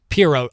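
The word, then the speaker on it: Pirro: It's Janine, not Jean, and the last name is pronounced differently than you are saying it. Period. Uh, Piro, I was saying Pyro.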